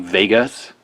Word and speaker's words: WEGA: one of these Sony Vegas even though it's a w it's pronounced V like the old German pronunciation December 2004 manufacturer date